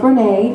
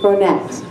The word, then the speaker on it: Bronette: Many of you might think that, oh, Storm, you're pronouncing that wrong, as I often do many words, but it's not Bronette, it's Bronette.